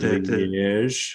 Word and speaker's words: Liège: So that's the liking of the Belgian team, the Standard Liège. How do you say it? Standard Liège, exact.